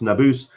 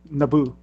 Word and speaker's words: Nabus: Just to remind everybody as well, as we discussed last week, that's Nabus, which rhymes with caboose.